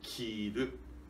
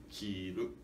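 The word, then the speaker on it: 着る: E sim, para significar vestir, precisamos de dizer kiru, grave, agudo, kiru.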